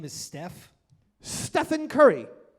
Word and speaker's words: Stephen: Stephen Curry. Sounds... Stephen, like it's spelled Steven, but pronounced Stephen.